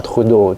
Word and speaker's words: Trudeau: Bacanya gimana? Perdana menteri Trudeau. Ya, Trudeau.